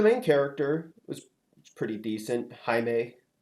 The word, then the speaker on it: Jaime: Jaime, spelled like Jamie, but pronounced Jaime.